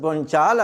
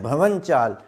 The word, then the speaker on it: भवन चाल: लफ्ज है भवन चाल यह जो लफ्ज बन चाल आता है ना बन चाल कहा जाता है यह असल में है भवन चाल भवन कहते हैं जमीन